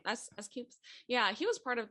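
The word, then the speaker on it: S.Coups: And so S Coops, is that how you say his name? S Coops.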